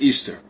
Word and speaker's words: Ishtar: Semiramis became known as Ishtar which is pronounced Easter and her moon egg